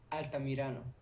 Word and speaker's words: Altamirano: How do you pronounce it? Altamirano.